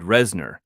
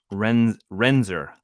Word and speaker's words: Renzer: New reports of third cohort, fourth cadre, extending further to the northeast, said her lieutenant, Yurid Resner. Nope, Renzer.